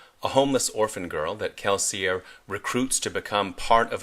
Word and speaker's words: Kelsier: Mistborn is the story of Kelsier, sometimes pronounced Kelsier, but we'll go with the audiobook pronunciation, who's come up with